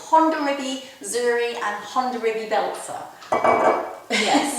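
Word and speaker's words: Hondarrabi Zuri: the great variety is are quite difficult to pronounce um and neither know no I have ever heard of them before it's Honda riby Zuri and Honda riby Belzer yes yeah exactly nowly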